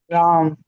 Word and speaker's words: राम: छोटा बन गया तो वो सिर्फ हल्की सी प्रोनाउंसिएशन होगी। राम ओके।